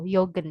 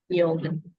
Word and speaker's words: joggen: Lalu ada yang tadi untuk joggen, karena dia dari huruf J, maka tetap dibacanya joggen ya. Yogen. Iya. Jogen.